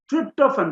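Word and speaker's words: tryptophan: crypto fund crypto fund tripto fun so I have not written trip tripto fun the pronunciation is tripto fun so that is what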